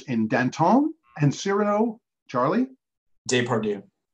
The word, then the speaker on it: Depardieu: Depardieu. Gerard Depardieu. And I'm sure Alex complained about that one because it doesn't really rhyme with do, but you are correct.